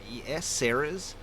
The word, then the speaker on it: Tsaerres: It's spelled very strangely, though, so it is Tsaerres, Ceres.